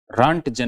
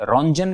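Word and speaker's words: Röntgen: रॉन्टजन ने की थी, रॉन्जन भी कहते हैं इसको, है ना, केवल प्रोनाउंसिएशन का फर्क है।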